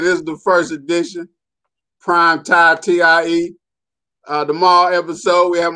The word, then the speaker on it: Prime Time: It's spelled like prime time, but see, the M is silent.